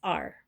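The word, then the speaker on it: 二: Um and that the way that it's pronounced is R.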